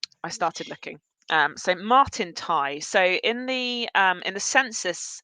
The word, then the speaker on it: Tighe: So Martin Tighe. So in the census, it's initially spelled Tighe. When he is when he is baptized, when he is baptized, Tighe is spelled Tye.